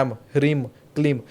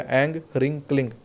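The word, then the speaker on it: ऐं ह्रीं क्लीं: कई लोग कहते हैं एम ह्रीम क्लीम, तो ये म वाला जो उच्चारण है, तुरिया संध्या में अगर अधिक शक्ति चाहिए तो अंगा वाला उच्चारण करिएगा, एंग ह्रिंग क्लिंग।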